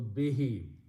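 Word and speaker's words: بِهِ: who means it and when you read them together this who is pronounced as he for the pride tajvit so be he next word is which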